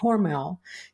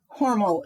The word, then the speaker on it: Hormel: recruited by George a hormell and do you say horal or Hormel horal is how the family pronounces it see we have something